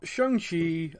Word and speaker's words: Shang-Chi: their names yeah so what so i got shangshi his father was wen wu yeah mother was